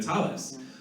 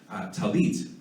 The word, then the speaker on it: tallit: There's nothing incorrect about calling it a tallis. But one might, from a scholarship standpoint or from an American Hebrew standpoint, tallit would be the more scholarly way of saying it, right?